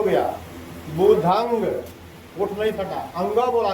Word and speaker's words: बुद्धं: ठीक है, तो सही उच्चारण क्या है, ध्यान से हमारे शब्दों पर दीजिएगा। बुधंग, बुधंग, ठीक है। चलिए। शरणंग गच्छामि, बुधंग शरणंग गच्छामि। गच्छामि लोग बोलते कैसे हैं, ऐसे बोलते हैं बुद्धम शरणम गच्छामि।